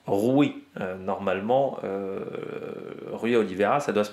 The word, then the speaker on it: Rui Oliveira: J'ai pas prononcé Rui, normalement je prononce pas, on va dire un peu à la portugaise, Rui Oliveira, parce qu'en France on a tendance à dire Rui, tout simplement.